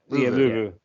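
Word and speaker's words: Luvu: Frankie Louvu, is it Louvu? Is that how to pronounce his name? Yeah. Louvu.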